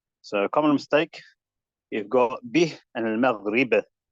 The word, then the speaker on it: بِهِ: So common mistake, you've got bih and al-maghrib. So bih often gets mispronounced as beh. Beh. وَسِرُّوا قَوْلَكُمْ أَوْ اجْهَرُوا بِهِ. That's incorrect. It's supposed to be bih.